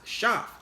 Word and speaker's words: Seth: Either by extension now we are descendants of Cain, or we are descendants of Seth, which is properly pronounced Shaph.